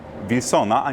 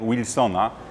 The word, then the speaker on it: Wilsona: We are currently at Plac Wilsona – "veal-son-ah", not "wheel-son-ah", as it is the first of these two pronunciations that is recommended by the Polish Language Council.